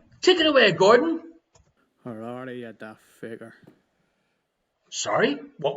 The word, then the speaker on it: Harare: over to Gordon in Aberdeen for the correct-ish pronunciation. Take it away, Gordon. Harare, you daft faker. Sorry, what was that? Harare, you daft faker.